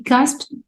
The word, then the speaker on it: gasped: Gasp means, this is the verb also, gasp, gasped, add ed, will ed pronounced as because the p is voiceless, so it will be gasped.